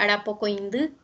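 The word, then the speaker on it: arapokõindy: Entonces, semana se pronuncia Arapocoindú.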